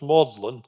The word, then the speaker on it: Magdalen: now UNG graduating is awarded a fellowship at modlin that's how this this word looks like mag Magdalene is actually pronounced modlin college and that was this home until 1954